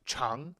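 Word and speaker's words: 长: one that comes up that's actually the same exact character just pronounced differently when this character the first one here that's pronounced zhang when it's pronounced chang it means long so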